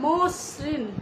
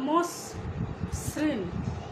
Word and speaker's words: মসৃণ: এই যে মসৃণ বলার পর আমরা দেখো কিভাবে উচ্চারণ করলাম। প্রথমে বললাম মসৃণ, অর্থাৎ এখানে শটাও কিন্তু আমরা দুবার উচ্চারণ করলাম।